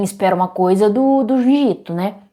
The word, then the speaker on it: Junji Ito: Quer dizer, todo mundo tem, espera uma coisa do do Junito, né? Jungitô, como eu acredito que seja a pronúncia mais correta do Itô, mas esperava estranhezas, círculos, né?